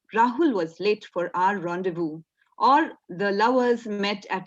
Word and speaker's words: rendezvous: Rendezvous is spelled as R-E-N-D-E-Z-V-O-U-S, but it is pronounced as rendezvous. It's a French word, and it means meeting at an agreed time or place, especially a secret meeting.